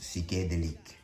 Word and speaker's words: Psychédélique: If your French sucks like mine, just call it psychedelic or psychedelique. But with the French accent, I think it's pronounced psychédélique.